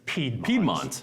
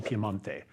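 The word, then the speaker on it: Piemonte: in a region called piante it looks like piedmont yeah okay pronunciation piemante so this wine comes from an area that's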